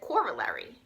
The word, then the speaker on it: corollary: Now, Miss Bounty asked me, she said, how do you pronounce this word? And I said, corollary.